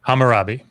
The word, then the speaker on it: Hammurabi: digital hammer hammer rabbi hammer what's the correct pronunciation of that hammurabi you guys got it all right i'm trying